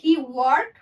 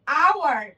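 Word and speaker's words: hour: Same ভাবে he work for অ্যান আওয়ার, আওয়ার আমরা কিন্তু হাওয়ার বলি না, এইস কিন্তু উচ্চারণ করছি না।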